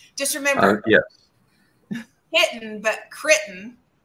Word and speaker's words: Crittenden: Crittenden. But that's quite right. Yeah, pronounced the way it's spelled.